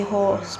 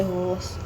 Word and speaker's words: Howrse: It's just I prefer to say horse because HOWRSE seems more like a country kind of a thing, you know what I'm saying?